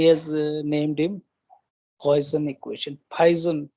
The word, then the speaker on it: Poisson: तो ही has named him पॉइजन equation. पाइजन कहते हैं वैसे तो। पॉइजन वर्ड एक ही जैसा प्रोनाउंस होता है, बहुत ज्यादा फर्क नहीं है।